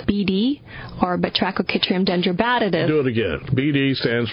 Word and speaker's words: Batrachochytrium dendrobatidis: There's a related fungus called BD, or Batrachochytrium dendrobatidis. Do it again. BD stands for? Batrachochytrium dendrobatidis.